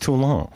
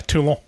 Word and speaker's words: Toulon: It's pronounced Toulon. Yeah, Toulon.